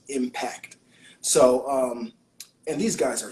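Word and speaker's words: M-PACT: you spell it with the letter M dash PACT, Impact.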